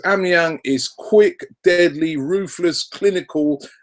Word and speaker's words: Aubameyang: And Brian Marlon Kaswa reminds me that it's pronounced Aubameyang, Robbie.